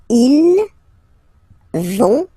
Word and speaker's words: vont: don't pronounce it, so ils vont, final T not pronounced, ils vont, and then feminine form, elles vont.